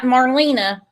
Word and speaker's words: Marlena: Why the hell would Andy Bernard care that Marlena, that's actually how you pronounce it, has been living at the Burger King parking lot?